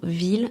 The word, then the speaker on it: ville: Pourquoi ville ne se prononce pas comme fille ? L'influence de l'étymologie. La prononciation de certains mots est liée à leur origine. Par exemple, ville vient du latin villa où le de se prononçait déjà comme IL.